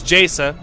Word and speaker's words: Jaesa: Wilson will Sam Wilson I don't know how how much you're supposed to pronounce it but it's jasa it's her first name